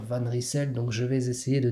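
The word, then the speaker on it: Van Rysel: pour la bonne prononciation il y a quelques temps encore je vous confie que je disais van reisel mais bon apparemment il faut dire van ricell donc je vais essayer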